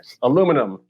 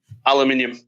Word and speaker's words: aluminium: the u it's got a u in it aluminum say aluminum it's aluminum aluminium aluminum alu that's how it's spelt min that's how it's spelled right that's